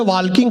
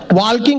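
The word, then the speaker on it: walking: बोला चलो गार्डन में वॉकिंग करेंगे वॉकिंग करते-करते ताल किंग करेंगे मैंने कहा वॉकिंग नहीं वॉकिंग होता है टॉकिंग नहीं टॉकिंग होता है इसमें एल साइलेंट आता है फिर मैंने अपना ज्ञान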